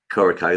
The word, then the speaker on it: Coreco: Coreco, there you go, thank you.